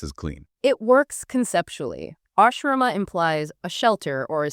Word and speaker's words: Ashrama: Phonetically, let's get this right. Ashrama.